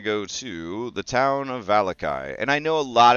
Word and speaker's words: Vallaki: to hear it and I don't want to pronounce it valaki or valaki I want to pronounce it valakai so that's why we're